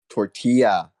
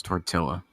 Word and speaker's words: tortilla: In Spanish, 2 L's is a Y, and English, 2 L's is an L. If I was speaking Spanish, it would be tortilla. I'm speaking English, therefore it's tortilla.